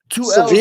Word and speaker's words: Sevilla: What reminded me of it was when you said Sevilla. Like you got mad people saying Seville, and it's not Seville. It's not Sevilla. It's it's 2 L's make Sevilla? L's make the Y sound.